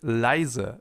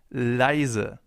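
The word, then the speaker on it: leise: let's take the word lizer the German term for calm lizer here we also have an e plus i which makes the German diff tongue I lizer and last but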